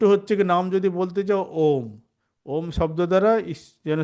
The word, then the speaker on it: ওম: মধ্যে সবথেকে ছোট্ট হচ্ছে নাম যদি বলতে চাও ওম ওম শব্দ দ্বারা যেন সে ঈশ্বর বা সর্বশক্তিমানকে আমরা তাকে প্রার্থনা করছি এবং ওম উচ্চারণকে বলা হয় আমাদের শাস্ত্রের সবথেকে পবিত্র উচ্চারণ